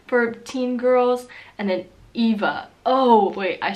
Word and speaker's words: Eva: other good friend here the V is pronounced like a F slightly like Ava Ava with an A is really common in the u.s. right now for teen girls and then Eva oh wait I said